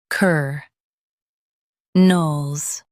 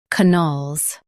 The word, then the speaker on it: colonels: Now, read the syllables of US pronunciation shown on the screen naturally. Ker nels, colonels. Ker nels, colonels. Now, let's focus on British pronunciation of this word. Cun-nels.